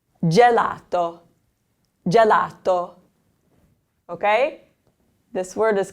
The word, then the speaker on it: gelato: The G is followed by an E, so it's gelato.